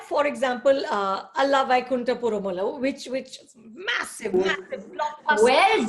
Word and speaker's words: Ala Vaikunthapurramuloo: Like, for example, Ala Vaikunthapurramuloo, which is massive blockbuster. Well done. You pronounced this so well.